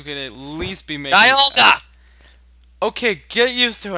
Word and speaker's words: Dialga: Yeah, I realize it, but you realize how much time I'm spending with Diagla. You could at least be making... Dialga!